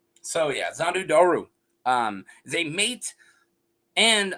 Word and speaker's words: Xhondo Dhoru: move man let's get into zondo doru and yeah that's how you say it that's how I'm gonna say it so yeah zandu doru um is a mate